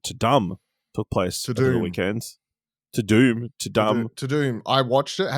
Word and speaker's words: Tudum: I too would have called it dumb because that's how it's spelled. But everyone, the hosts, everyone make sure to say to doom.